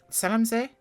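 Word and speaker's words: Zell am See: And today we're at Zellamsee here in Austria, and I definitely mispronounced it this time. Zellamsee? That's the one, close enough.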